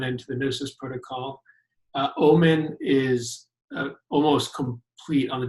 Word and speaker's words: Omen: then there's the Omen, is that how you pronounce it? Omen, yes.